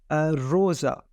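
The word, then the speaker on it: rosa: होगी ठीक है जिस तरह एक वर्ड है रोजा ठीक है उसके स्पेलिंग क्या है आर अर ओ एस आ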